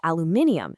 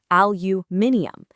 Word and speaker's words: aluminium: But the British version is aluminium, stretching to five syllables, aluminium.